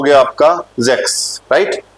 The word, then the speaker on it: sechs: देखो 6 की स्पेलिंग देखिए आप। 6 हो गया आपका जेक्स, राइट।